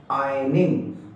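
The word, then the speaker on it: ironing: Are silent रहता है। आपको क्या बोलना है? आयनिंग।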